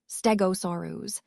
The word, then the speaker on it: Stegosaurus: Let's take a closer look at Stegosaurus, pronounced Stegosaurus.